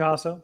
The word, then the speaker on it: Jasso: your name because I'm pretty sure I just butchered it in front of a national audience. You had it perfect. It was Jasso.